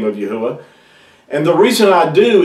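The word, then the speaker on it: יהוה: his name is pronounced you would have to pronounce these letters in ancient Hebrew yahuwah and I'm going to show you why that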